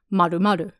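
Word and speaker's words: まるまる: For the purposes of this story, the main character refers to their friend in text as two circles, which in Japanese would be pronounced maru-maru.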